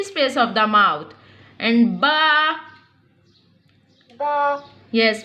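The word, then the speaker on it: ب: And ba. Ba, Yes, pronounce from the wet part of both lips.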